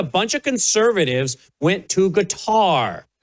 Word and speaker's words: Qatar: The big controversy for a lot of folks online is I guess a bunch of conservatives went to guitar or cutter, depending on how you say it, including apparently Don Jr.